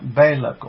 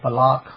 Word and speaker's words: Balak: Salt Lake City okay so parshas bad Balak or Balok however we like to pronounce it and balak the son